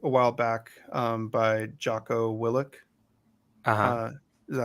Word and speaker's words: Willink: Tim, you got me a book a while back by Jocko Willink. Is that how you pronounce his last name? Yeah, Willink.